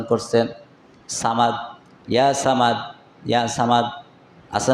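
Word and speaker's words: صمد: ওই বান্দা সামাদ সামাদ করে। আজকে হঠাৎ করে মুখটা গোল হয়ে উচ্চারণ হয়ে গেছে। সমাদ। সমাদ হল আল্লাহর নাম।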